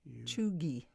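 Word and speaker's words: cheugy: the modern onesie choogie how do you spell that c-h-e-u-g-y pronounced choogie this relates to us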